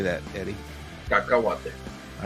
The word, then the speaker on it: Cacahuate: Cacahuate.